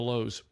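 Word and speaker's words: Louhs: of the lowe's and our last name is spelt quite uniquely it's spelled l-o-u-h-s it's the lows in fact our show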